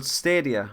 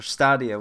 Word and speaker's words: Stadia: the details John will you be getting Google stadia or stadia whichever way you want to pronounce er no absolutely not okay no it's